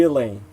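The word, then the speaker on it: Ghislaine: topic elaine maxwell well we elaine is the correct pronunciation a former associate of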